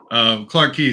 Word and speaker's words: Clarke Quay: So Clark Quay seems like the more going out at night party area.